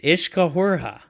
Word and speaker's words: Uiscefhuaraithe: Is that how that's pronounced? Yes, Uiscefhuaraithe.